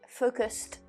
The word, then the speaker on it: focused: on revient vers l'anglais, il faut quand même bien prononcer le ED à la fin. Parce que je pense qu'en français, ils ont pris que F-O-C-U-S. Mais nous, c'est focused.